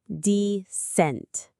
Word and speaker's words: dissent: Notice the stress is on the second syllable, descent. It's not dissent, but descent. It has a similar rhythm to the word consent, which is its opposite.